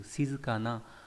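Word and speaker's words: 静かな: Ví dụ từ shizukana là tính từ đối na nghĩa là yên tĩnh.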